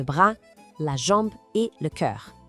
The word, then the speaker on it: cœur: la jambe et le cœur. Esse som em cœur é um desafio, né? É como se a gente fizesse um biquinho para falar eu, mas com a boca em formato de O.